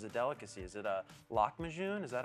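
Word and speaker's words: lahmajoun: I guess as a delicacy is it a lock machine is that how I say that exactly oh God a regular degular law machine yes that's how you say it there is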